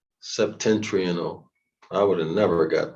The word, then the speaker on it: septentrional: Oh, so we need that other word, the septentrionalis, whatever that is.